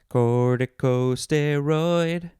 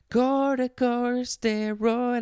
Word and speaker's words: corticosteroid: because it's a fun word i guess corticosteroid corticosteroid corticosteroid i said it wrong corticosteroid yeah all right